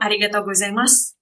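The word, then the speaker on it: ありがとうございます: Kalau U-nya dibaca senyap ya. Jadi misalnya kita ngomong arigatou gozaimasu, itu bukan arigatou gozaimasu. Jadi kita bilangnya adalah arigatou gozaimasu gitu ya. U-nya disenyapin aja.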